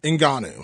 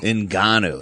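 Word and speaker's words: Ngannou: wait how do you say francis's last name enanu enanu inan yeah that dude is badass the Predator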